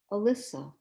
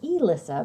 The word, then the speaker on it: Elyssa: will pass to um alyssa am i saying it correctly melissa so close it's e-lissa but thanks good morning